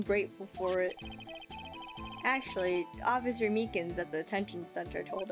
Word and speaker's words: Meekins: Actually, Officer Meekins at the detention center told us. Ah, that poor little doggy. Poor guy, I keep getting his name wrong and calling him Meekly.